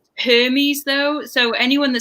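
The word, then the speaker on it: Hermès: hermes or uh i think he means her herms or hermes it's it's just pronounced hermes though so anyone that says anything other than that i mean they could say hermes herms or some say herbs do they really who says that i used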